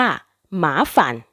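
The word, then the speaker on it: 麻烦: กวน ลำบาก เดือด ร้อน สังเกต การ ออก เสียง คำ ว่า ฝาน นะ คะ เมื่อ ใช้ คำ ว่า หมา ฝัน คำ ว่า ฝาน จะ เป็น เสียง สั้น ค่ะ จะ ออก เสียง เป็น ฝัน หรือ บาง คน จะ ได้ ยิน เป็น ฝัน หมา ฝัน ประมาณ นี้ ค่ะ ตัว อย่าง การ ใช้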